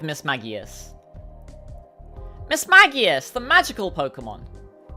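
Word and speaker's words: Mismagius: Now, I've heard different ways of pronouncing this Pokemon's name. I've heard Miss Magius. I've heard Miss Maggias. I'm going to go with Miss Maggias.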